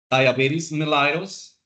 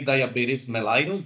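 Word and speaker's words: diabetes mellitus: hormones that's Arison disease diabetes melitos remember you can say diabetes melitos diabetes melitus it doesn't matter it can be pronounced either way that is d m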